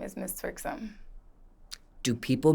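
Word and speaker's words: Mizz Twerksum: correct way to pronounce my stage name is Miss txom do people mispronounce this people mispronounce my name all the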